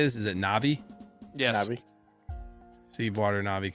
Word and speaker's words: Na'vi: W how do you say this is it na'vi yes Nai see water na'vi cosplay when we'll